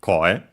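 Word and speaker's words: 声: uh also extended meanings but yeah the fundamental one is voice and yeah is accent on the first syllable co then we have the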